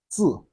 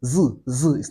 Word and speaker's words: 自: And don't say z, it's not English Z. Z, no, z, no. It is Chinese Z, which is zi, that's T and Z together, like T and Z.